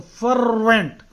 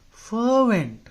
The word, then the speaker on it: fervent: the spelling huh because in the stupid language English R is present most of the time but you're supposed to not pronounce it it is silent this